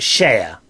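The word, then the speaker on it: Cher: Sean just uh make sure that the audio one's working as well all right uh Mikey says oh dear you've got it wrong it's sure pronounced share is it share oh thank you Mikey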